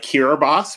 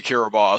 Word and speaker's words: Kiribati: I don't even think I could say Kiribati, so there's that. It is spelled nothing like how it sounds. Nothing.